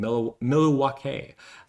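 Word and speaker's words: Milwaukee: I'm sure I'm I don't know I'm saying that right or wrong, but hello from Milwake, Wisconsin. Miluake. Uh that's the pronunciation. I learned that from Wayne's World.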